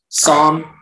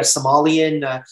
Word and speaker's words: sommelier: Sommelier.